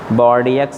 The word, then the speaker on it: Bordeaux: Some important fungicides are Bordeaux mixture.